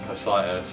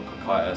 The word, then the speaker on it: Cocytus: And then Cocitus, or Cocytus, however you want to pronounce it, that's sort of like another river in that mythology as well, within Hades.